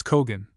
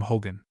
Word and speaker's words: hogan: The proper form is Kogan, but in and around the Navajo country, it has become an adopted English word under the corrupt form Hogan.